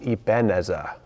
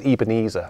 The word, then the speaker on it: Ebenezer: weak and helpless um that tuna is called ibenezer i think it's ebenezer actually that's how that's how you pronounce those vowels you know how i'm